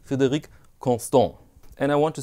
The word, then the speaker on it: Frederique: in this episode I'd like to speak about Freddie see Frederick constant if you had complained to his